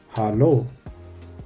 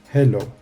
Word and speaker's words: Hallo: Pronunciation should be correct. Hallo. It's not hello.